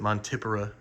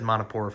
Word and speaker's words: Montipora: I know some people pronounce it Montipora. I kind of like that, but I've said Montipora for too long.